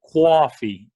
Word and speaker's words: coffee: It's like you put a W before the O, like coffee. I want to go get some coffee.